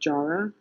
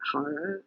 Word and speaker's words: Jara: um and I believe he likes to have his name pronounced Jara not Hara as traditional would be but M uh Dr